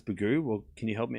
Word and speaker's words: Begu: Begu it's pronounced Begu. Okay. Yeah, Lena, you gotta spell it out for me. Because I can't hear. Oh, here we go. It's pronounced Begu. Bear as in bet. Oh, Bego.